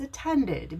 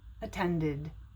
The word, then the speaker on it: attended: or a tent it's attended because if a word ends in a d you pronounce the e d like id attended and this one is